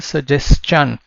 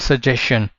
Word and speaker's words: suggestion: एक चीज ध्यान रखना, this is सजेस्शन, नॉट सजेशन, and all this we have covered in our pronunciation rules.